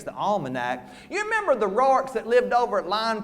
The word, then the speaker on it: Rourke: Them what pronounce the name Roark. Yes, they's the ones that's got money and education. These wasn't Roarks, they's just Rourkes.